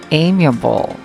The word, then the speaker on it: amiable: one pretty new nouns as amiable the correct is amiable yeah how about the